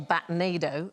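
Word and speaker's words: batnado: Every night they leave in what's known as a batonado. It's like rhymes with tornado.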